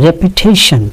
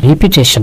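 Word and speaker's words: repetition: রেপিটেশন, তখন কিন্তু আর রিপিটেশন না, উচ্চারণটা হচ্ছে রেপিটেশন।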